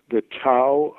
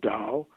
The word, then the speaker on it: Tao: It's called the Tao of Dating, or some people pronounce it Tao, T-A-O.